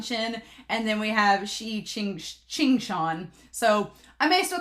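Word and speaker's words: Qingxuan: But Emily M was like, oh, you just say Qing Shan.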